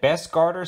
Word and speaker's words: Bestguarder: video on some new digital night vision that best garter sent out to the channel uh that is how you pronounce their name and they actually have a